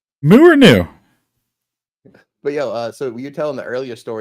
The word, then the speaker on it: nu: It's pronounced It's pronounced new.